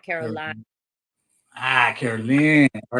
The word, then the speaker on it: Carolyn: those who don't know since it's spelled YN it's Caroline not Caroline ah Caroline all right